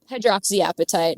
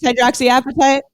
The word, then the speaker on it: hydroxyapatite: Hydroxy appetite, though. It is hydroxy appetite. There may be people who pronounce it that way.